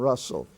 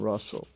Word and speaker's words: rustle: that's an exception hustle bustle and Russell in those words the t is silent bustle a hustle bustle and rustle so write these words